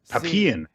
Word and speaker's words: Papillon: We never, at any point, Papillon.